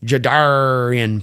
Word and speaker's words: Jadarian: Remember, say Jadarian like you're a pirate to pronounce it correctly. Jadarian Price.